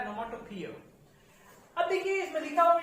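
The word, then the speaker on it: onomatopoeia: Difficult spelling है, इसका pronunciation भी डिफिकल्ट है। इसको बोलते हैं ओनोमोटोपिया। क्या बोलते हैं इसको? ओनोमोटोपिया।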